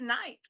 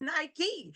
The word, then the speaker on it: Nike: Because the first time I saw Nike, I just said Nike. And they said, "No, it's Nike."